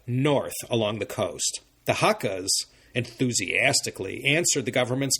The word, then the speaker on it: Hakka: and these newly arrived guest people, these or haka as Ka is pronounced in Cantonese, lived side by side.